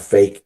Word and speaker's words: PHEIC: Which I think is really interesting that it's that if you spell it or sound it out, it's called FAKE, right?